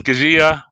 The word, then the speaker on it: Keziah: the correct spelling that's k-e-z-i-a-h pronounced at ask zia i'm doing this because when kazia makes it in the big time people would know how to properly uh pronounce your name is that correct kazia yes okay so i'm pronouncing it properly right at nine years old okay so i have been mispronouncing it all along oh my god kezia there you go so do we stress the zed kezia okay so we